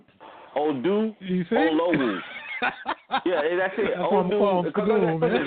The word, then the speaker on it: Oduolowu: This is easy. It's Odu. Listen, look. Just look at the word and say Oduolowu. Oduolowu. Yeah, that's it. Odu. Just read it out. Oduolowu.